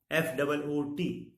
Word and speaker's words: foot: In FOOD, food, it is long O, food, and FOOT, foot, it is short one.